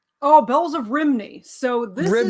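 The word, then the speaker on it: Rhymney: Yeah, Rimney or Romney I think is how it would be pronounced closer to that in Wales.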